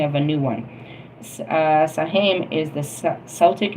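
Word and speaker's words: Samhain: Uh, Saheim is the Celtic name and is pronounced sawin. Um, the O in the word rhymes with how.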